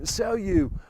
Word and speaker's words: Célio: That's the way it's pronounced, Célio in Portuguese.